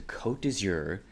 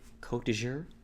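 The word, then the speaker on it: Côte d'Azur: On the cover it says, "Bring your dreams to Kot Dour and the French Riviera." I did have to look this up and also look up the pronunciation. And I hope I got it right. Kot dour.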